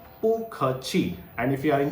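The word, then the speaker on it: bù kèqi: Okay, you will have to say pu khe chi, pu khe chi.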